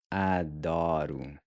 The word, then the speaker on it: adoro: And then the R is again pronounced like a really soft D, where your tongue just barely taps the gummy ridge right above your front teeth. Adoro.